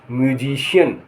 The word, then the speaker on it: musician: सी के बाद क्या आया, IA या EA आए तो शा हो जाता है। जैसे SOCIAL सोशल, सोशल माने सामाजिक। OCEAN ओशन माने समुद्र। MUSICIAN म्यूजिशियन माने संगीतकार।